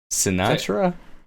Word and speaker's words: Sinatra: that is pronounce it right pronounce it right right now Sinatra there you go what's his first name Frank